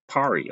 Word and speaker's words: Perry: Perry. Oh, it's pronounced Pari or Perry.